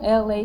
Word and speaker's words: Elay: It is me, LA, pronounced like LA from the.